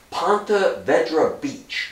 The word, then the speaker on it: Ponte Vedra Beach: A week later, June 16th, 1942, U-485 drops four guys off of, I always have trouble pronouncing this, Ponte Vedra Beach, just below Jacksonville, Florida.